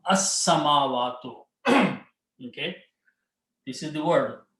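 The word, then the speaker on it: السماوات: And al will remove one dhamma, and you pronounce sin twice, not lam. As-samawatu.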